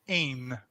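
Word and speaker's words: én: So in this case, there is a pronoun for I in Hungarian and that is pronounced ain. So like the word pain or game, but you just take away the first consonant.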